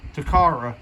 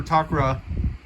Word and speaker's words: Takara Tomy: and i'm pretty sure most of you pronounce it as takara i prefer takra and this is toshinton